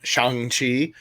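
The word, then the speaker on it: Shang-Chi: i'm so excited about xiang chi um as i have now been corrected to pronounce it uh because i love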